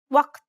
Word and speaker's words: وقت: There are two tricky aspects about this letter. The first is that it's a unique sound that does not exist in many languages. Let's listen to how it's pronounced in the word time in Standard Arabic.